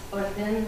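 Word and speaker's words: الأردن: So that under Jordan, that's Orden, which is how you pronounce it in Arabic.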